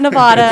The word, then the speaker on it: Nevada: It's not Nevada. It's Nevada. It's Okay, so Nevada. we're going to correct Spencer on her improper pronunciation of Nevada. So we Nevada.